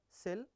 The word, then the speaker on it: CIL: So, common Intermediate Language, or CIL, pronounce either "sell" or "kill".